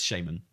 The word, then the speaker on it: shaman: Like every British person in the world says shaman, and like that's just how you say shaman in Britain.